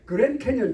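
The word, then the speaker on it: Grand Canyon: 우리가 그런 캐년 뭐 어떤 할머니가 나의 연세 많으신 분이 뭐 그년도 캐년도 뭐 그랬다고 그러는데 그건 그건 잘못된 거고 그랜 캐년 발음 정확해야 되겠죠 그년도 아니고 말이죠 근데 가져보니까 정말 입이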